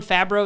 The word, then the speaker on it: Favreau: it's almost like John Favreau. Is that how you say his name? Uh-huh.